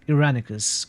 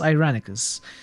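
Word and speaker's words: Irenicus: succeed by the way why do I insist on pronouncing its iranicus clearly it's ironicus every NPC in the game says ironicus but I somehow always go with iranicus I think uranix is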